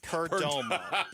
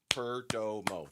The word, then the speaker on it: Perdomo: Syllables. Perdomo. 3 syllables.